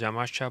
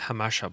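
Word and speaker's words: Jamacha: name of the street is yamasha boulevard it's actually pronounced hamasha beloved so you choose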